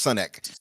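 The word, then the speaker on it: Sunak: It's Sunek.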